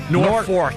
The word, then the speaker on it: Norfolk: Norfolk. I like to say Norfolk. Norfolk. Because that's how the locals say it. I want to be local. That's how they really say it.